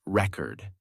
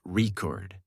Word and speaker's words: record: example the word record changes pronunciation based on whether it's used as a noun or a verb as a noun the thing it's pronounced record as a verb the action it's pronounced record this is just one